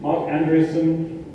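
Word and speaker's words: Marc Andreessen: Mark Andreessen, that's how you say his name, noted internet entrepreneur.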